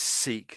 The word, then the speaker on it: Sikh: So this is seek down here as well, but this is a religion. This bottom one, this is to do with a religion. So it's it's pronounced the same. These two words are pronounced the same but totally different meanings.